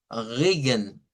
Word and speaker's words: Regen: esta de acá, que corresponde a Regen, Regen. El sonido de esta R que ven aquí es la R uvular o la R francesa. Es un sonido que debe de provenir de la úvula o también de la gútura. Se puede hacer en esas dos zonas y es un sonido como cuando hacemos gárgaras.